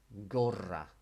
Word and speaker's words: gorra: And if you can roll your R's, when you see a double R in a Spanish word, it's an invitation to R, gorra.